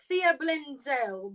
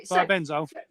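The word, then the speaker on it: thiabendazole: Yeah, so you've got imazolil, fluoxetinool, and the thiablenzel. Blah, blah, blah. Sorry, thiabenzole.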